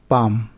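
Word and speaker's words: palm: যেমন কাম মানে শান্ত, KALM কাম, এখানে এল এর উচ্চারণ কিন্তু হচ্ছে না। আর্মস মানে ভিক্ষা, পাম মানে তাল গাছ।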